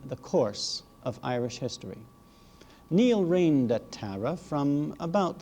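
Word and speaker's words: Niall: by the name of neil n-i-a-l-l you may if you wish give it the english pronunciation of nile neil is not only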